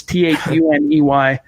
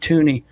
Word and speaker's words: Thuney: Him and Joe Thuney or Tooney, however you pronounce it. It's Thuney. I've heard Thuney. I've heard Tooney.